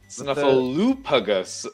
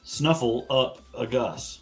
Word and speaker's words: Snuffleupagus: Snuffleupagus. Oh Jesus. Snuffle up a Gus.